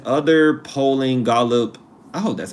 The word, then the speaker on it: Gallup: Gallup?